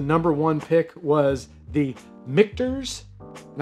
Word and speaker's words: Michter's: was the mikters and i say mcters because i often say mcners i know that's the how you pronounce it that's just the way it comes out of my mouth i know it is mcterz just to clarify so